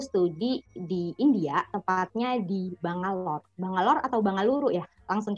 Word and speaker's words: Bangalore: Kemudian sekarang sedang menempuh studi di Bangalore atau Bangaluru, Mas bacanya, Mas? Bangalore sih biasanya.